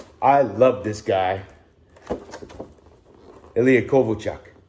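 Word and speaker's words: Kovalchuk: love this guy elia kovock although back then they used to pronounce his name kovochuk and then they changed the way they pronounced it and last one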